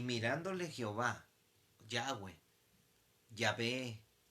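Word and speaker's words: Yahvé: h del doble huila h no se puede pronunciar entonces decían ya ve yagüe entonces yo soy el que soy decía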